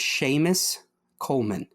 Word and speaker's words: Séamus Coleman: So how do you pronounce this name? The first one is Séamus Coleman.